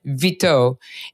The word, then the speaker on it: Vitaud: And we've been talking to Laetitia Vitaud, and that's spelled V as in Victor, I-T as in Tom, A-U-D. Laetitia Vitaud.